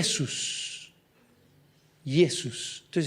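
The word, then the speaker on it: Ἰησοῦς: sus Jesús yesos Entonces se llama yesos porque nosotros le decimos Jesús Bueno ahí hay un cambio en el idioma en nuestro idioma cambió la J antes se pronunciaba como una Y entonces arrastró el nombre de Jesús donde le pasamos de yesos a Jesús ya está pero en griego los apóstoles le decían Jesus pero sin embargo en hebreo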